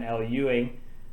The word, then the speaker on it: Al Ewing: So let's run it back from the top, and I'll pronounce Al Ewing's name correctly this time. Al Ewing, bringing us Immortal She-Hulk.